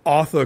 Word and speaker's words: Arthur: Father Christmas and secondly they pronounce Arthur as AA so Aur Christmas is like a pun yeah right yeah